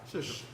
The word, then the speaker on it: Saoirse: I always getting his first name wrong. Saoirse. Shush.